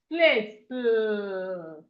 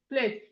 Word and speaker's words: plate: We have it in word like plate, plate. The E here is silent.